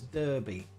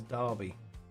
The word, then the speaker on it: Derby: written Okay, so Americans would say that as Derby. Okay, that's how an American would say it. And you're Japanese, so you learn all your English from America. So they would say it as Derby, but the proper way of pronouncing that is Derby.